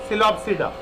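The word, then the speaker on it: Psilopsida: तो 4 क्लासेस जो हैं इसके बेटा, पहला है पी साइलेंट होता है, इसको क्या पढ़ते हैं, सिलोप्सिडा, सिलोप्सिडा, ठीक है, सिलोप्सिडा इज the right answer.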